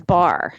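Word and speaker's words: barre: what is bar okay bar is kind of the new hot hot thing yeah it's spelled like b a r r e and I'm like what is thatch right so it's a ballet bar okay that you do a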